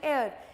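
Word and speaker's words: hour: इंक पेन इंक पैड इसके अंदर जो एच होता है वो साइलेंट होता है we call it एयर same are बोलते हैं ठीक है एच is again silent over here तो मैटर करता है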